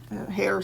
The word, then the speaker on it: Hare: So Hare spelled the same way as rabbit, hare, H-A-R-E, but it's for a person.